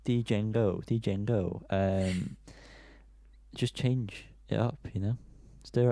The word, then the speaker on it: Django: So Django, which I know is not how you pronounce it, by the way. It's Django.